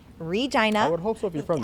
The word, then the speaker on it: Regina: regina saskatchewan canada yes i said it right regina i would hopefully be friends i did yes